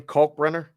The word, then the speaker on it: Kalkbrenner: Kalkbrenner?